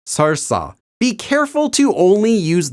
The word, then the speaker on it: 설사: Note that the adverb seolsa has the same pronunciation as the noun seolsa.